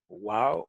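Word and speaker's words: וָו: Uno de los detalles es que siempre pronuncian la wow como wow, no dicen vav, como dicen ahora los judíos.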